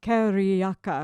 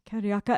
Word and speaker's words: carioca: to the people of rio kariyaka according to my brazilian neighbor i'm sort of trying to pronounce it carioca and you'll hear this